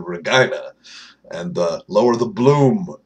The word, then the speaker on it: Regina: But the Regina Rage, because, you know, that's how you pronounce that city's name, is the Regina.